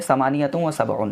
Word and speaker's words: ثمانية وسبعون: देखिए उर्दू में प्रोनाउंसिएशन कैसे होगा 78 का 78। ठीक है, अरबिक में पढ़ेंगे समानियतुम व सबऊन।